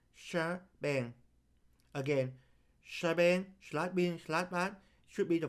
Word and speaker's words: shebang: The pause and exclamation point here are pronounced shebang.